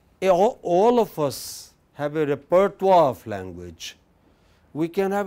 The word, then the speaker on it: repertoire: in linguistics we use this term can you pronounce it repertoire it comes from music you know like any